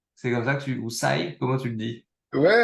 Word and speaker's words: SYE: Moi, je le prononce à l'anglaise, voilà, Sai, mais tout le monde est bienvenu.